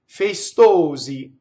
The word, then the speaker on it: festosi: Festosi. Okay, so now notice that you had two S's. One is an unvoiced S and one is a voiced S.